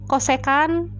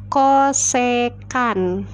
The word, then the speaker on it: kosekan: dibacanya cosecan Saya ulangi ini dibacanya cosecan mungkin saya tulis ya Koh kydd Ayo kita tulisannya ya cara bacanya kosekan Ya cosecan Teta itu miring dibagi